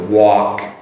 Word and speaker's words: walk: So walk, W-A-L-K, give you the spelling anyways. Walk, so you start off with the oo sound, work as well, oo.